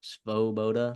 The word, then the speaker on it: Svoboda: Svoboda.